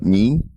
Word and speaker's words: Mein: man won't you it up mean main mean yeah Dana Dana came out and made